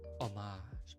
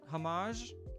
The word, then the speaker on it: homage: Homage. Oh, that's that's pronounced homage. It's not pron it's not pronounced hamage.